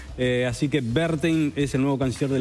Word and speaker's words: Werthein: así exactamente la manera correcta de pronunciar el apellido del nuevo canciller berin eh Porque la W alemán se pronuncia B corta y la b corta se pronuncia F Así que berin es el nuevo canciller